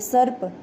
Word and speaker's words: सर्प: हैं एक और देखो जिस भी वर्ण के ऊपर जो रह की मात्रा लगी होती है उसका उच्चारण उस वर्ड से पहले किया जाता है जैसे कि सैफ रैपर ऐसे बोलेगी सर्प ठीक है सड़क नहीं बोलेंगे इसको सर्व दबवा चक्र